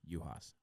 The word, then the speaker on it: Uhas: We don't really say the U. Like, we pronounce it like right? So, like, James Utley or something like that. Right. So, yes, Uhas, thank you. So I said it right.